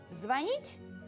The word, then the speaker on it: звонит: нередко приносят нам проблемы Как правильно сказать звонить звонит включит или как-то подруго этот что некоторые глаголы в группе на ить имеют подвижное ударение то есть они меняют своё место при изменении слова например он ходил но в настоящем времени будет ходит а некоторые наоборот имеют неподвижные как глагол звонить звонить звонишь перезвонит и так далее а